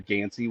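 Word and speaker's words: Ganci: I called the uh I called the fire chief Yansy. It was actually Peter Gansy was his name. I mispronounced his last name, so I wanted to I wanted to make sure I said that correctly.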